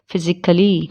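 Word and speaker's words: physically: ए कब साइलेंट होता है? जब उसके लास्ट में ICALLY जुड़ा होता है, उसमें ए साइलेंट होता है, जैसे कि लॉजिकली, फिजिकली, क्रिटिकली। ठीक है, इसमें ए को हम साइलेंट रखेंगे, वरना ए का साउंड नहीं निकलेगा।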